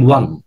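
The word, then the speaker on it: one: আপনার বাস game game ওয়ান এই যে উইন ওন বলি আমরা এটাকে উইনের ফাস্ট ওন বলি এটার উচ্চারণ ওয়ান এটার উচ্চারণ ওয়ান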